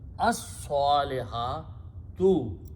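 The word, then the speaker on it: الصَّالِحَاتُ: Swad is a Shamsi letter, so it kills the lam sound and doubles its own sound. So it becomes as-saliha tu. Initial word is last letter, ta has one dhamma. So the pronunciation is as-salihatu.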